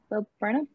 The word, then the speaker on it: Bo Burnham: Today, I'd kind of be fun to have guys like, is it Bo Burnham? Is that how you pronounce his name? Yeah, Bo Burnham.